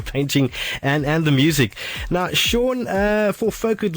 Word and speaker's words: Sean: And your Facebook page, that's Sean, it's spelled S-E-A-N. Sean, like Sean Connery, S-E-A-N, and.